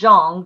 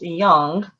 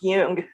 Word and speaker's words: Jung: It looks like Jung, Jung, but it's pronounced Jung. It's actually pronounced Jung.